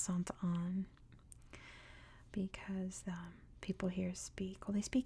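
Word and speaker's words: Sainte Anne: see let's see B I'm sure it's pronounced Sant on because um people here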